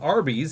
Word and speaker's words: Arby's: Instead, they chose the name Arby's, a phonetic pronunciation of the letters R and B, short for Raffle Brothers.